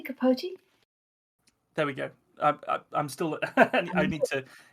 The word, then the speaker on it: Capote: get the name wrong did you pronounce it Truman capot or is it Capote I still don't know I'm gonna have to look this up I think it might be Capote there we go I'm